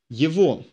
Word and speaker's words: его: For он was его. Его. Written его, pronounced его, because o is emphasized.